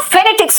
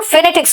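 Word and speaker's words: phonetics: देख लें जो हम फनेटिक्स में देख रहे हैं। बेटा देखो फनेटिक्स बोलते हैं। फोनेटिक्स नहीं बोलते।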